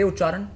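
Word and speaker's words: uccāraṇa: Say Ucharan. Ucharan. Ucharan. Which in English is pronunciation.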